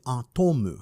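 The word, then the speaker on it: アトム: read in English, and if it were to be read in Japanese, then it would read Atomu, which is also how they would say the word atom.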